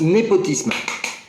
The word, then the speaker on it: népotisme: Aujourd'hui, le mot c'est népotisme, et ça se prononce népotisme.